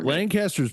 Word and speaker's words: Lancaster: Whoever Lancaster. Lancaster's pretty awesome. I will say that. Or pronounced Lancaster to some. Yeah.